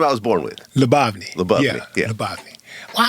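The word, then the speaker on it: Lyubovny: Labni. Labni. Labavni. Well, I don't know why I thought you had four syllables in your last name. Lubny. Three. So, it's three. Lubny.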